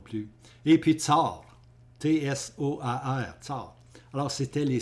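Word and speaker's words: Tsoar: Tsar.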